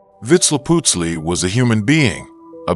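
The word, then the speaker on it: Vitzliputzli: The name given to this being may be expressed by a combination of syllables that approximate vitz leaputsi. Vitz leaputzi was a human being.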